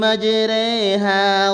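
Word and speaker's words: مَجْرَاهَا: রর নিচে খাড়া জের আছে, এখানে রে বলে উচ্চারণ করতে হবে, এটাকে এমালা বলা হয়।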